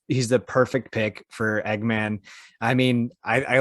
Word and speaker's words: Eggman: jim carrey is playing eggman uh eggman or egghead right eggman thank you okay i did say it right